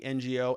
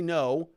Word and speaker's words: Ngo: So update from Andy, NGO. Andy, no. I like to say NGO. I like to say Andy, NGO. I know it's Andy, no. I think that's how you say it.